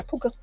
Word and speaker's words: Puka: Yeah, Puka. Puka Shells.